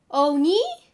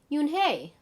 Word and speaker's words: Unhei: name the girl asks you hey she said oni the girl said scrunching her face up me some kids chanted no no hey corrected it's spelled u-n-h-e-i it's pronounced yoon hey oh yo hey the boy said like you